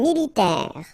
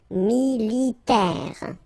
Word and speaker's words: militaire: Alright, then un militaire. Remember, A-I, it's this E sound as well. E, militaire.